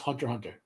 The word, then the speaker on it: Hunter x Hunter: how to read this the Japanese convention when you see the X there the x is silent so like Hunter x Hunter should be pronounced Hunter Hunter you know um this